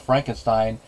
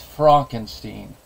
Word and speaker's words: Frankenstein: he does that is changing the pronunciation instead of Frankenstein it's Frankenstein tries to distance himself